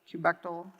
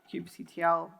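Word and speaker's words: kubectl: koobideh CLI and everyone argues about how to pronounce it Kubek dole cube CTL cube cuddle whatever but it has a certain pattern of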